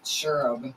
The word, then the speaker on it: Shureb: It's Shureb.